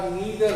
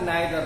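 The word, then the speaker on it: neither: दोनों साउंड करते हैं, दोनों अमेरिकन और ब्रिटिश साउंड अलग अलग होता है, इसलिए कुछ लोग ईदर और बोलते हैं और कुछ लोग आइदर और भी बोलते हैं, कुछ लोग नीदर नॉर बोलते हैं, कुछ लोग नाइदर नॉर भी कहते हैं।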